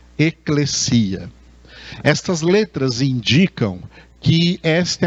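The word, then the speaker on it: ἐκκλησία: muitas pessoas pronunciam erroneamente eclésia. As pessoas pronunciam assim eclésia por não conhecerem a língua grega. Na língua grega essa palavra se pronuncia eclesia.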